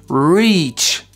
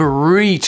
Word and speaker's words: reach: tout la même chose le verbe reach avec un i long veut dire accéder à quelque chose reach mais le mot rich